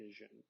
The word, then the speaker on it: vision: is in video and is a vision even though we say that with the Z sound it is spelled with an S so why do we